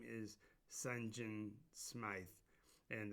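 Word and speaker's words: St. Jean: But the king of Salafort is a man whose his name is Sunjin Smythe, and that is fundamentally Saint Jean with a different pronunciation, so it's ST period JEAN.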